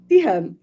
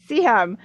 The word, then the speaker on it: Siham: This is the episode where we're chatting with, and I pardon me, how do you pronounce her name? Siham. Siham. Siham, Yeah.